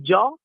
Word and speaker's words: Gio: Io dico sempre la G che è di gioia per dire qualcosa di bello, la I e la O. Quindi Jo, scritto proprio come si pronuncia in italiano.